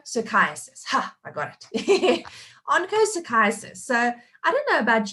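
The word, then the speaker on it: onchocerciasis: a challenge onco psychiatrist ha i got it oncochiasis so i don't know about you guys in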